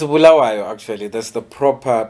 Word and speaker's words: Bulawayo: Somebody said Bulawayo. It's Bulawayo, actually. That's the proper pronunciation.